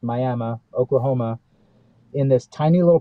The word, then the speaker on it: Miami: Indian casino in Miami spelled like Miami but pronounced Miami Oklahoma in this tiny little place that held